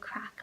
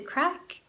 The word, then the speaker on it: craic: using a general fun like we had great craic last night at the party in other words we had a great time we had a lot of fun we can say what's the craic to mean like how are you what's up